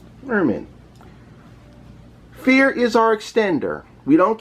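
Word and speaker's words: Vier: friends have told me it is pronounced fear as the word means the number four in german merman fear is our extender we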